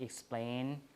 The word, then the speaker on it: explain: see well a right explain the stress is on the second syllable because this is not a native English word right we borrow it